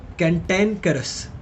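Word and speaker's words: contumacious: क्ल करे क्ल सम कंटेन करस कंटेन करस ठीक है इसको कैंटन करस प्रोनाउंस करते हैं कैटन करस ठीक है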